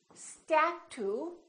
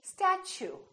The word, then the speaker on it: statue: let me show you we don't say statue we say statue statue so the t u sound like CH so it almost sounds like chew I chew my food statue let's try a few